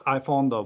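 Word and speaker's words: iPhonedo: It's like avocado. It's iPhondo, but I got used to hearing, you know, I don't hear it differently anymore. So it's like iPhondo.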